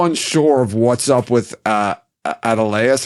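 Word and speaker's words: Adeleas: of what's up with Adeleus or Adelius. I don't remember how they pronounce it in the show.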